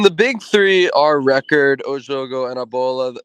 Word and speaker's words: Jogo: Is that how you pronounce it? Yeah, Jogo.